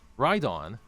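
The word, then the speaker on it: Rhydon: Rydon rhymes with Groudon.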